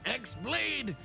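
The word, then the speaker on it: χ-blade: yeah it means the x-blade it's just pronounced like keyblade even though it's just one keyblade ah the series is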